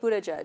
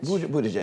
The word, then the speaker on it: Buttigieg: Bumashar? Pete Buttigieg. Buttigieg.